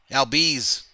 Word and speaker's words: Albies: Albies.